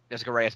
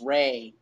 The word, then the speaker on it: Jessica Rey: But I remember Jessica Reyes mentioned on panel with GPR. Yes. It's Ray. It's Jessica Ray. Oh, Ray. Sorry.